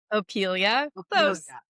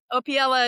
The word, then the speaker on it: Opiela: Opilia. Opella. It's pronounced that way a lot of times. Opila.